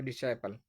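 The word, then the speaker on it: disciple: हूं डिसाइल ठीक है प्रोनाउंस इसकी जो सही है व डिसाइल ठीक है द ट्रू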